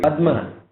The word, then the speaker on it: Padma: So Padma should be Sanskrit. Sanskrit the pronunciation is Padma.